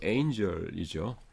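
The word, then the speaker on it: angel: 또 뭐 그 엔젤 천사 그러지 마시고 엔젤이죠. 예. 캘리포니아 그러지 마세요. 캘리포니아 악센트가 뒤에 있습니다. 인디아나폴리스도 인디어나폴리스. 하여튼 그 발음은 여러분들 이렇게 확인하시고 하시기 바랍니다.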